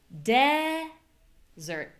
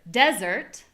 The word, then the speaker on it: desert: My voice is higher in pitch. The vowel is very clear and the vowel is longer. So we have desert. Desert and desert.